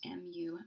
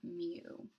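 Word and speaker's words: μ: this is the um population mean and it's pronounced mu mu and little n is um when we're trying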